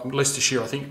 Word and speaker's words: Leicestershire: Leicestershire. Or Leicestershire. Leicestershire, I think you pronounce it.